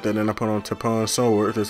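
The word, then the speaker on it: Tapion Sword: I put on Tapon Sword, that's how you pronounce it.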